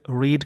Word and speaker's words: read: सेट, रीड का तीनों form same होता है, प्रोनाउंसिएशन रेड रेड हो जाता है।